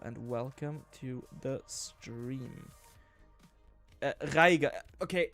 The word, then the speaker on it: Reiger: Reiger. Okay, in my accent of German, we call the R, so we pronounce it out of the throat.